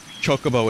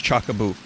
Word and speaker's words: chocobo: red rupee a roughy it's like pronouncing chocobo as chockaboo like um the first time i heard the word chocobo said out loud was my friend who said chakabu i've told the story